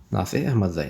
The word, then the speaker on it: ناصح احمدزی: احمدزی، NASIH، چې په انګلیسي کې ورته وایم تلفظ کوم، ناصح AHMADZI. DZAI احمدزی، ناصح احمدزی.